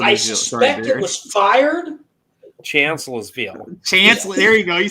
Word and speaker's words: Chancellorsville: Union case shot projectile I dug at what is now a house on private property over by Chancellorsville.